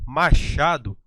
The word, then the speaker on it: machado: Quando eu falo machado, o som pronunciado aqui é o som fonético X.